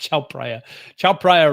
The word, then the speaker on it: Chao Phraya: I think it's pronounced Chao Phraya River.